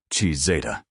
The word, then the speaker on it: Cizeta: The company name came from the Italian pronunciation of his initials, C and Z, Cizeta.